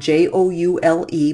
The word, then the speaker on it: joule: and the Joule spelled jou le but it is pronounced Joule as in jewelry is abbreviated with capital